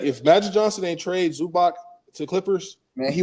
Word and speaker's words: Zubac: Zubak I wish Zubak I keep saying that name wrong. Zubac I wish he would get more credit but I don't know.